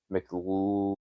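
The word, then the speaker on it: McLeod: So this uh so Ryan Mcloud, that's how you'd say that. It's E O D.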